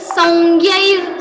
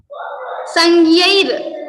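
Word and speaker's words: संज्ञैः: Songyair, something like that. So that is also okay. In Maharashtra we pronounce like that only. Sanjnair. Sanjaya. Heard as Sanjnair. Sangyair.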